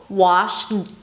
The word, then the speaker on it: washed: that's the thumb rule, washed, it's almost impossible to say it. It's going to come out as a T anyway, because English doesn't